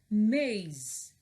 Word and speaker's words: maze: The E is silent, so we have maze, maze.